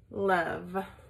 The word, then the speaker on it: love: the up sound and love which is actually an O which is weird and then the e which is silent we don't hear an